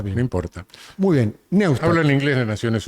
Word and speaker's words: Neustadt: Neustadt. Neustadt, lo pronunciás en alemán.